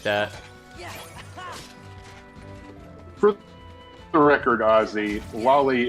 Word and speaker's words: loli: For the record, Ozzy, lolly is the proper way to pronounce that word according to the Japanese pronunciation.